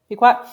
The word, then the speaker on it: Pequot: Pequot.